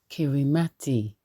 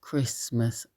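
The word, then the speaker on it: Kiritimati: discovered the island of kirati but it's pronounced Christmas Island and he discovered it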